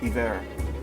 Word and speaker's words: Ivor: But since this is an Icelandic, or not Icelandic, but a vaguely Scandinavian setting, I believe that Ivor is actually appropriately pronounced Iver.